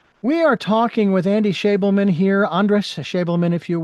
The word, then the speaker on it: Schabelman: But it is Schabelman. Nailed it. Andy Schabelman is my guest, and you are listening to Tell Me Your Story. We are talking with Andy Schabelman here, Andres Schabelman, if you will.